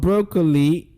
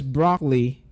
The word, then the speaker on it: broccoli: Not broccoli, like we know it to be. It goes broccoli. Can I hear you say broccoli? Now, in the word broccoli, can you tell me the disappearing syllable in that word?